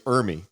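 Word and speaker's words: Ermey: It's not Army, it's Ermy. Arlie Ermy. Ermy.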